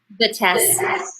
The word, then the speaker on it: Vitesse: Vitesse.